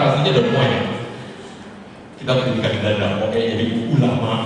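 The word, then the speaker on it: Don Moen: bilang Don bolehlah k makan tahu saudara tapi pengucapan aslinya Don Moe kitaikan Danda oe Jadi ulama ulama oe PPS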